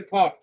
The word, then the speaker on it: thought: পরেরটাতে দেখো THOUGHT, এখানেও জিএইচ আছে, এখানেও জিএইচ সাইলেন্ট যদি হয়ে যায় তাহলে উচ্চারণটা কি হবে? থট। উচ্চারণটা হবে থট।